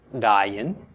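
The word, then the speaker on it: עין: Okay, this is pronounced dayin. And it means an eye. Okay, it's the name of the letter, and it means an eye.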